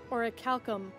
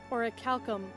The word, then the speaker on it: orichalcum: Orichalcum. Orichalcum. I'm sorry, what was that? I couldn't hear you. Orichalcum.